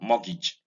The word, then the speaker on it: mortgage: The A in mortgage is not A, but E. So we have mortgage.